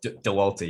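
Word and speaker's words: Dauwalter: How do you pronounce her surname? DeWalt. DeWalter, yeah.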